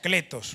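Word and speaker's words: κλητός: El término que se usa aquí llamado e es un término que en en el en el lenguaje antiguo se pronuncia Cletos.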